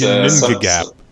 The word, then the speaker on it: Ginnungagap: Ginnungagap. That's such a great name. Yeah, no, it's a great word. It's Ginnungagap.